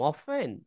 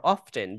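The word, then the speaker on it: often: Cities শহরগুলি লাই Dhaka Chittagong অফেন র অফটেন দুই উচ্চারণই করা যায়।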